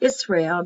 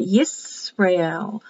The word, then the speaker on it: Yisrael: Yisrael. Not Israel, but Yisrael.